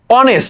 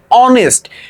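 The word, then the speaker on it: honest: ম্যান সে হয় একজন সৎ মানুষ এখানে এইযে অনেস্ট ঠিক আছে এইটা কিন্তু হর মত উচ্চারণ হয়র মত উচ্চারণ হ অনেস্ট অনেস্ট ম্যান ঠিক আছে বা আওয়ারের কথা যদি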